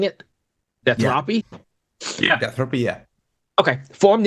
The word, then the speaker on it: Deathropy: there so death Ry is that how we're pronouncing it deathy yeah deathy yeah okay formed in 2022 for